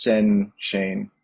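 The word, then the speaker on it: %chain: I think, I imagine someday in the future people will call it Urbit chain, but the percent sign in Urbit lingo is pronounced with the syllable Sen, and it's meant to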